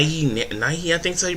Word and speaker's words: Nighy: guy named matthias who's played by bill bill nye nighy i think so he pronounced his name he played uh davey jones